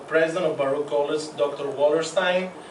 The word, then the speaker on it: Wallerstein: Wallerstein. And they told me to pronounce it like Einstein, so I remembered it.